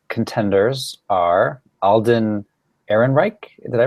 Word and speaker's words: Ehrenreich: So the 5 contenders are Alden Ehrenreich. Did I pronounce that right?